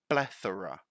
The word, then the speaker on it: plethora: thora plethora plethora and here there is a tricky sound mostly for Brazilian students because I know the th sound doesn't exist in the Portuguese language right so that would be the voiceless th we have two types